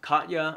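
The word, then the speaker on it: Katje: You also have Katya, I believe is how it's pronounced in Dutch.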